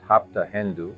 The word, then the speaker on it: hapta hendu: homeland of the Iranians Arians pronounced hapta hendu Hindu instead of sapta Sindu the name indu or